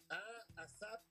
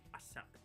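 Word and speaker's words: A$AP: además cuesta trabajo pronunciarlo porque la S de ASAP realmente es un signo de dólar. Sí, Eso realmente sería como A dólar. A dollar ape Rocky, ¿no?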